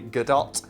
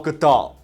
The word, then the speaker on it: Gadot: sequences and performances, particularly Godot and Miller, because that's apparently how you pronounce that. Everyone always pronounces it Godot, and then Gal Gadot's, no, it's Godot. Oh, okay. So it's Gal Gadot, which sounds really stupid.